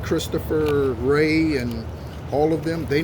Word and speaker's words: Wray: Okay, his name is spelled W-R-A-Y. Okay, his last name. And his middle name is Asher. Christopher Asher Ray.